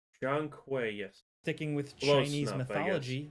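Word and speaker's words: Zhong Kui: So, they're keeping their Blackth thing uh with this new one called Jang Quay, if I'm pronouncing that right. With it being a Black Myth game, it seems like they're Jeang Quay.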